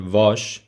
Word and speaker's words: vós: When you're using the subject pronoun vós, the direct object pronoun is vos. Pay attention to the pronunciation of vós as a subject pronoun and the direct object pronoun vos.